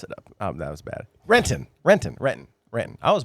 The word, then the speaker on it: Renton: Renton. Renton. Renton. Renton. I was born and raised in Reton mostly. So Reton.